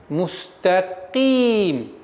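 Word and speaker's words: مستقيم: Теперь каф, звук каф. Каф твердый звук, но при появлении кесры она переходит на мягкость произношения. Мустаким. Ки. И никакого влияния твердость не должно не оказывать на та.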